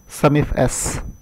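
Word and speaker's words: SUMIFS: Database function आप यूँ समझिए कि अभी हमारे पास जैसे समिफ्स है, कई लोग इसको प्रोनाउंसिएट करते हैं समिफ एस।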